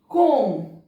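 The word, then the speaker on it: comb: कोम, इसको कोम्ब नहीं बोलेंगे, कोम, टूम, डम, थंब, ये वाला जो रहता है ना अंगूठा, इसको थंब नहीं बोला, थंब।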